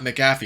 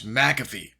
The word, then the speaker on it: McAfee: some of the John it's not McAfee it's McAfee John McAfee posts name giz